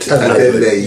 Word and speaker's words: Adeleye: He's having a fight with David Adeleye, 100%, is how it should be pronounced. Adeleye, that's not his name.